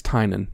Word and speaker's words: Tynion: How do you actually pronounce it? I looked it up. It's Tynion.